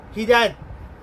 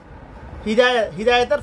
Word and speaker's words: হিদায়াত: এটার মধ্যে আছে মুত্তাকিদের জন্য, আল্লাহ বিরুদ্ধের জন্য হিদায়াত। হিদায়াতের পথ আমরা হেদায়েত বলি আর কি। হেদায়েত তো মানুষের নাম, এটা সঠিক উচ্চারণ হিদায়াত।